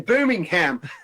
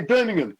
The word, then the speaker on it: Birmingham: You see, I just said it like an American then, Birmingham. We don't say it like that here. We say Birmingham.